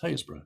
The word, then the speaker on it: Happisburgh: roads off Yarmouth and Haysborough Gat, spelt Happisburgh but pronounced Haysborough.